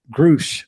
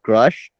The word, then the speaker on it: Grusch: newfound respect now because uh groosh um grush I mean grush is the correct pronunciation yeah he um uh